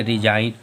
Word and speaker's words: resign: फिर देखो RESIGN, इसमें भी क्या है? जी जो है वह यन के पहले आ रहा। फिर जी साइलेंट, इसे क्या पढ़ेंगे? रिजाइन।